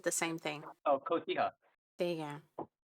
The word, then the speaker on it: Cotija: Cojita? See. Cotija.